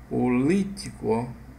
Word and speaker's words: político: o motivo e político político o assentar se tá na antepenúltima é proparoxítona e toda proparoxítona é